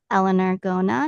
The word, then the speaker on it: Eleanor Gona: in for a treat today with our guest Elellanar Gona. Now did I pronounce that proper properly?